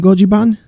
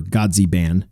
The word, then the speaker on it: Godziban: to as little in goji ban which gojiban would technically be the correct pronunciation or godzi ban if you're english you know anyway little